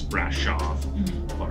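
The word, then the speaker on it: Brașov: of the name and remember that S's in Romania are pronounced SH it's spelt as we would see in Brasov is brash off Bucharest is actually it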